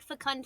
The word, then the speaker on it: fecund: When you see, so it's fecund. So I'll spell it in chat. Fecund. It's like fecundity.